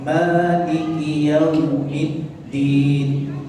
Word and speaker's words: مالك يوم الدين: Perbedaannya dengan huruf dal itu sedikit saja antara huruf dal dan huruf ta. فأنطقها هكذا ونقول مالك يوم الدين. Maka ketika membaca huruf dal tadi tekan maliki yaumiddin.